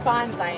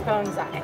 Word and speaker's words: bonsai: So it's not pronounced bonsai, it's pronounced bonsai.